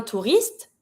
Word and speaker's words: touriste: Un touriste, une touriste. Keep in mind, even if the he is here, we're never gonna pronounce it. We're not gonna say un touriste, un touriste. It's just mute.